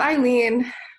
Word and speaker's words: Eileen: island is here um island am i pronouncing your name correctly or hi it's eileen eileen eileen go up i